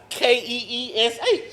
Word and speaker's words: quiche: pronounced Keesh.